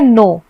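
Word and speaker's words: know: वैसे ये है नो। नो में K का कोई काम नहीं है, ऐसा लगता है कि N से स्टार्ट हो रहा है उच्चारण, लेकिन ये स्टार्ट होता है K से।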